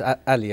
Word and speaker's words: Ali: For some reason, everyone gets my surname wrong. It's Ali, actually. Ali. That's it.